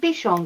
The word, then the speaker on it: Bichon: So they pronounce it Bichon, Gray.